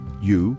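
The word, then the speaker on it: 鱼: the word for fish U pronounced u sounds very similar to the word for Surplus this finesse IC similarity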